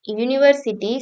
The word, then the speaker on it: University: because University sounds like University starting with a Y sound not a Wubble sound